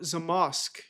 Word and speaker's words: Zamość: How do you pronounce Zamosk? Zamoshk.